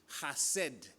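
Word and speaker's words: חסד: Sabes que la palabra misericordia en hebreo es hased. Ya sé que se escribe chesed, pero es hased. En el idioma hebreo siempre usan eso de como aclarar tu garganta, ¿no?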